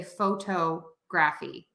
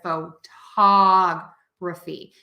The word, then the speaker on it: photography: Great example would be, I hear a lot of people say photography instead of photography. So that's where that syllable stress really comes into play, is in words that have these exceptions.